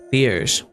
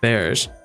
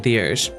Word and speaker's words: Thiers: We'll soon arrive in Thiers. I believe that's how you pronounce it, not theirs.